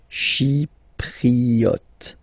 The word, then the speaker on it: Chypriote: Remember this Y is pronounced like I, okay? Chypriote.